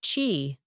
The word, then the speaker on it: qi: At acupuncture's core is the notion of qi, pronounced qi, the life force or energy flowing through the body along invisible pathways called meridians.